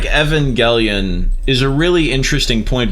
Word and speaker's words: Evangelion: I feel like Evangelion is a really interesting point because Neon Genesis Evangelion, as it's actually pronounced, it is this like